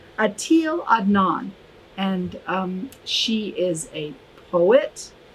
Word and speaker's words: Etel Adnan: so her name is i'm going to look now so i say it right atil adnan and she is a poet she's a painter